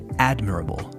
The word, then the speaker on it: admirable: I know those dulas or words that have the emphasis on the fourth to last syllable can be difficult, so practice it.